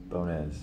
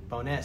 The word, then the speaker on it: Bonez: My name is Bonez. All right, Bones, so not bones. Yeah, there's Okay. accent over the E. It's pronounced Bonez.